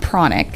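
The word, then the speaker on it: pranic: know what's a prana killer oh it's actually pronounced chronic chronic okay like chronic but p-r-a-n-i-c it's called chronic healing and actually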